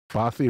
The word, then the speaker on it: bothy: How to pronounce Bothy? In English, it says here, Cambridge Dictionary. Bothy, the UK. Bothy.